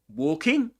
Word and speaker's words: walking: walking that L hack the L in walking is not pronounced in is ne neither pronounced in um yeah in American English right nor in um British English. So it's not pronounced. We don't say in American English with walking. Yeah. We don't say walking. We say walking in in British English. Walking with a long o sound.